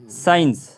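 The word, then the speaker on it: science: एस एंट accent accent accent accent में सी साइलेंट है उसके आगे साइंस साइंस में देख सकते हो आप जैसा कि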